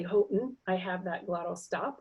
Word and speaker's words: Houghton: the U P when I when I say Houghton I have that glottal stop I don't say